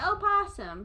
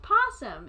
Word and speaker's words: opossum: And so they say opossum, but it's just possum. It's just a possum. Why would you not pronounce the... I've never heard of a silent O.